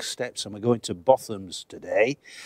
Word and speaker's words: Botham's: It's pronounced Botham'S.